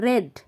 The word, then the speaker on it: read: তাহলে we played আমরা খেলেছিলাম, টুগেদার একসাথে, এখানে কিন্তু READ উচ্চারণ হবে রেড মানে পাস্ট ফর্ম, রেড পড়েছিলাম, স্টোরি বুকস